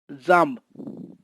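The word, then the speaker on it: jambe: a b means dress pronunciation of letter j is pronounced as a sound like the j a m b e pronounced as zam means leg q kq is pronounced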